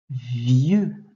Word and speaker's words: vieux: Vieux. Alors, vieux, on l'a vu tout à l'heure, il y a une lettre muette à la fin.